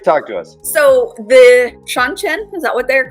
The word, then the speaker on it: Seanchan: So the Seanchan, is that what they're called? Mhm. Is that how you Yes. pronounce that? Seanchan, right?